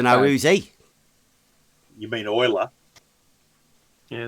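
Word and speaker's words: Euler: um i don't know who's he you mean oiler yeah it's a weather i'm happy with all the pronunciation i would have said neela but that's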